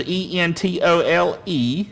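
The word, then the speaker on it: ἐντολή: Transliteration is E-N-T-O-L-E, if you're making notes.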